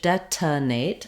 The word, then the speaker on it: detonate: into the n Sound and in British English detonate I do have a vowel here they're using